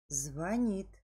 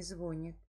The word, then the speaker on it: звонит: Скворечник, яичница, алфавит, сантиметр, музей, звонит, а не звонит, понял, щавель, а не щавель, жалюзи, а не жалюзи, жалюзи, баловать, а не баловать, банты, а не банты, ворота, теннис.